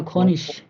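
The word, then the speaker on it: König: আইজি যখন যুক্ত বর্ণ হয় এবং লাস্টে যদি বসে তখন ওই আইজি এর উচ্চারণটা একটু স এর মতো করে হয়ে যায়, খনিশ।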